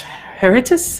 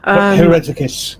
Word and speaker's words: Hereticus: They are the militant arm of the Orders Heritus, I believe is it's pronounced. Hereticus, yes. Yeah. Hereticus, thank you.